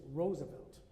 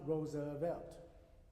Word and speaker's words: Roosevelt: This is Roosevelt. It's not Roosevelt, right?